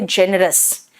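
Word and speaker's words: generous: सबसे आसान वर्ड है जेनरस, जेनरस, जा आया, देखो जी का प्रोनाउंसिएशन में जा आया, है ना।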